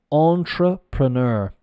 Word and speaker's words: entrepreneur: Entrepreneur. So it's the French pronunciation, but in an English accent. So badly, let's say.